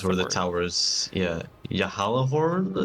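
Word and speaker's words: Gjallarhorn: Yeah, Yahalahorn, I think. Uh-huh. Yeah, it's like a Y. It's not a J so much. I think because it's Nordic. I believe it's Yahalahorns.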